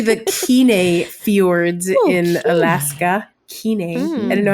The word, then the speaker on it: Kenai: Kenai. I didn't know how to pronounce that until we started the cruise. Kenai.